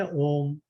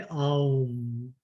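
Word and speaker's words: ॐ: Generally इसको दो तरीके से बोलते हैं, या तो बोलते हैं ओम, और या बोलते हैं आउम।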